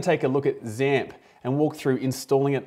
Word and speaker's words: XAMPP: And when it comes to stack-based, there are a bunch that all rhyme with AMP. Well, XAMPP is the cross-platform solution